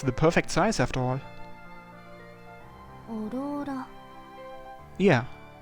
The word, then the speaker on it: Aurora: オローラ。 Yeah. She correctly pronounced it like Aurora.